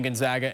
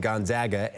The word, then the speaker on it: Gonzaga: This game marks the first ever meeting between Gonzaga and Houston, but Samson last played against few Zags in 2007 when he was with Indiana.